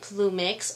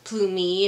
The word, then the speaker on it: Plumix: to be the pilot plumix or plumy if you want to be all um say it correctly I guess um but I got